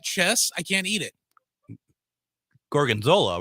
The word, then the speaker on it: Gorgonzola: And one of my favorite things was, and I finally learned how to pronounce it after like 4 times, Gorgonzola.